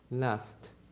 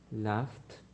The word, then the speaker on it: laughed: So in the past, I would say laughed, laughed, laughed. Yes, because the sound in the present is like F, laugh. So laughed.